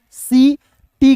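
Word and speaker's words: city: ठीक है, आई का ई, सी, टी का ट, और अंतिम में वाई आया, इसका उच्चारण भी ई के रूप में, तो क्या हो जाएगा?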